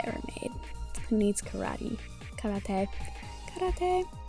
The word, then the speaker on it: karate: made who needs karate karate who knew spongebob was pronouncing it right the whole time and we were like why is he saying it weird it's no that's right he's right but um i wanted